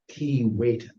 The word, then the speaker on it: Keewatin: More about that pronunciation later. We're going with Keewatin. Is that better? Yes, it is. In hopes that some bits